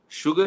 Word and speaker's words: sugar: radhakrishnan do you know sugar is the only word in english literature or in the vocabulary where yes you is called shu this is the only word wherein you is converts are as h so that's why it is called sugar sugar so then dr sarvapa